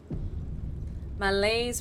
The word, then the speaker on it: malaise: Malaise rhymes with blaze. Malaise.